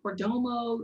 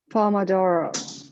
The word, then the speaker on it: Pomodoro: Pomodoro. Livia, Pomodoro method. You better come through with how to pronounce it. Thank you. It's an Italian name.